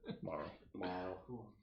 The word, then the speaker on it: Marl: Just say it like Carl. Marl.